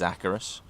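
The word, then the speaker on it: Acherus: And it is pronounced Acarus. Anyone who wants to argue with that one, go and watch some of the cinematics. It is Acarus.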